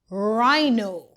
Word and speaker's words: rhino: RH says R. The H is silent. Rhino.